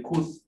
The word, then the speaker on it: could: Como también el could. Se le llaman silent letters.